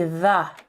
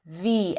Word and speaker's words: the: Because store begins with a consonant sound, it would be the. I'm going to the store to buy eggs begins with a vowel sound. So we pronounce the eggs.